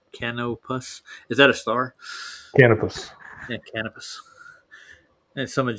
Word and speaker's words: Canopus: I'll just play the video, but it's called how do you pronounce that? Canopus? Is that a star? Canopus.